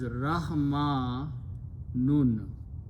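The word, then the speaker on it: رحمن: Here, between, instead of ya, and it's pronounced as Rahma Nun.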